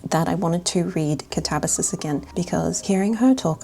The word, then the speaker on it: Katabasis: I didn't realise, but the entire time I've been talking about this book, I've been calling it Katabasis, but the correct pronunciation is actually Katabasis.